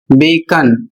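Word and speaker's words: bacon: यहां पर अगला शब्द है बी ई सी ओ एन और इसका उच्चारण होता है बेकन।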